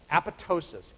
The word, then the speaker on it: apoptosis: cellular suicide is called apoptosis a p o p the second p is silent a p o p